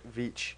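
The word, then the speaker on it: Veitch: stories um by Rick vich rhymes with Beach um the max Immortal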